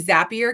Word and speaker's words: Zapier: want to say that i feel like it should be zappier because you create a zap not as vape right like i say yeah but zapier phonetically makes sense to my brain so um i use